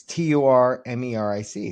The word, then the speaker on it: turmeric: Well, there's an R in it. It's t u r m e r i c.